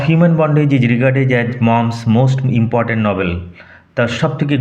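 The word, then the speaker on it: Maugham: উচ্চারণ লক্ষ্য করো, মঘাম নয়। অনেকেই ভুল করে মঘাম উচ্চারণ করে, কিন্তু উচ্চারণ হবে উইলিয়াম সমারসেট মম।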